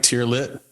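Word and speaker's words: Teare Lit: into a limited series through her production company tiar lit did I pronounce that right tier lit you did beautiful beautiful nil is also the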